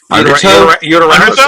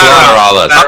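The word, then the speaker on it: Lateralus: Oh, Uteralis or something or whatever. That's an L. That's Lateralis.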